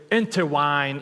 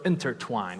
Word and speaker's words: intertwine: to tell you that I used to mispronounce a lot of words so I would say determine instead of determined my friends would always laugh they would always like but mock me right I would say interwine instead of intertwine right so I made